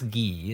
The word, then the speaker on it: Guy: DSL I know it's ghee it's spelled guy but it's pronounced in the French way he's a Canadian cartoonist